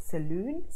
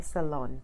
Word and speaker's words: salon: be mispronounced us at saloons I'm going to the hair saloon to get a haircut no it's incorrect it is the salon like how you'd say the name John john2112 launch next